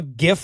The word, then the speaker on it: GIF: the point it's because I didn't choose my pronunciation based on the root word right when I saw a gift written out I said gif in my head when I heard other